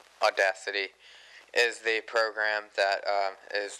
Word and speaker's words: Audacity: think uh um what I used to call Audio City which is actually pronounced audacity is the program that is the easiest for